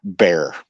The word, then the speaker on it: Bier: But anyways, um so her name is Teresa Ann Bier. And I believe I'm pronouncing her name right. B I E R is pronounced "Bier" in this situation, correct?